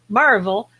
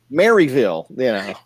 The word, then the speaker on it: Maryville: what you described as Marvel which I would call I didn't set Marvel I said nerville you said Maryville it's spelled Maryville and that's what it looks like you know so but